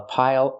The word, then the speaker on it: pile: Use the dark L at the end. It changes a vowel.